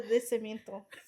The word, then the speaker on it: nacimiento: She said, I was like, ¿Cuándo es tu fecha de nacimiento?